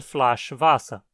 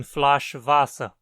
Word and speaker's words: Flasch Wasser: E uma garrafa de água é 1 Flasch Wasser. Perceba que pronunciamos as duas palavras acentuadas. 1 Kilo Reis. 1 Flasch Wasser.